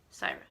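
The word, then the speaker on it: Cyra: Syra. It's C-Y-R-A. That's how you spell it.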